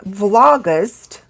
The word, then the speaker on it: vlogust: people also call it vlogust and I'll show you how that is spelled and that's the L Oh G ust vlog it's like August or vlog is for